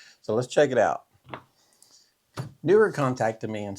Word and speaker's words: Neewer: They said, "It's absolutely pronounced Neewer like a newer car, a newer camera.